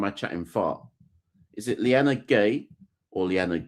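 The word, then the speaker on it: Liyanage: surname is like that, are you supposed to pronounce the E at the end? Cuz I don't think you're supposed to pronounce that E. Have I made that up? I'm not sure that E is pronounced how we think it is pronounced. So, you see how we look at that phonetically and go Lyanna Gay. I think it's Lyanna G.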